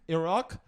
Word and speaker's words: Iraq: and Iraq, that's how you say it.